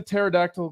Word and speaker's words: pterodactyl: can't the pterodactyl go to the bathroom? The P is silent.